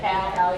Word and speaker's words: Calumet: And he's also with the Calumet Project for, and I always get to pronounce that wrong, for those of you from Gary. How do you say it? Calumet.